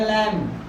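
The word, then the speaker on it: lamb: है लिखा हुआ पढ़ेंगे लम लम क्या होता है भेड़ का बच्चा इसमें भी देखो यहां बी साइलेंट है नहीं तो ल म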